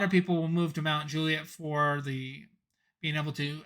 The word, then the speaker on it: Mount Juliet: about the rankings just make sure that you aren't pronouncing it Mount Juliet which is very common and you want to say it is Mount Juliet and so that's just